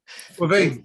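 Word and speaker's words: Caoimhín: the keeper, of course, there's not a single V in the sentence in his name. So clearly you pronounce it with a V. Quavine, that's it.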